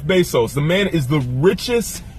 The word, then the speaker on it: Bezos: that made a Jeff besos Jeff besos say it with a little accent because I believe that's how it's pronounced Jeff Bezos the man is the